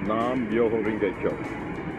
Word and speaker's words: Nam Myoho Renge Kyo: It's pronounced Nam Myoho Renge Kyo.